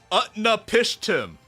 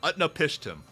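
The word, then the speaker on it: Utnapishtim: Currently, Utna Pishtim. Wait, what? Wait, that actually works. Utnap Pishtim.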